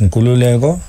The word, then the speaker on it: Nkulululeko: No, it's pronouncing like this: Nkulululeko.